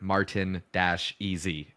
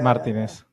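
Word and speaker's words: Martínez: get caught up but English commentators who pronounce Martinez Martinez Mar Martinez yeah yeah I saw I saw a meme once that was like Hey English commentators it's never Martin Das EZ it's never martinz yeah Martinez Martinez yeah yeah it's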